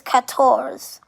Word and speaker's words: quatorze: And 14 is quatorze. Quatorze or quatorze. So 14 is spelled Q-U-A-T-O-R-Z-E.